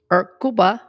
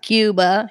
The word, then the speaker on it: Cuba: I have his permission he was from Cuba and his name was kuba which is the right way to say it he taught me not Cuba he would say kuba and his name was